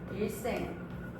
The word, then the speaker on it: 일생: 한자어 리을 다음에 시옷, 디귿, 지읒이 오는 경우 된소리로 발음할 수 있습니다. 대표적으로 일생, 날 일에 날 생자를 써가지고 우리가 발음할 때 일생이라고 된소리로 써줄 수 있겠고요.